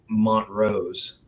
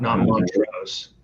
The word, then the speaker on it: Montrose: he told me that the proper way to say the city you live in, Colorado. No, Montrose, not Montrose. And he said that if